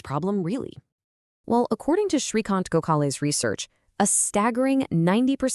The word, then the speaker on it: Srikant Gokhale: And that's pronounced Srikant Gokhale.